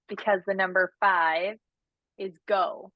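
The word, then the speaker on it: 五: the number five is go it's pronounced go in Japanese um so that's why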